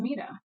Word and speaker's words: Mita: you're actually acting like you don't pronounce it maida you pronounce it mita and i just want